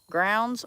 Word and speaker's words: Grounds: Grounds rhymes with crowns.